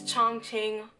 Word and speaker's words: Chongqing: to Chung chain China I really have to say like that because I have a difficult time in pronouncing it cuz i keep saying chong ching chong queen I don't know but it's chung tinh i believe so yeah i'll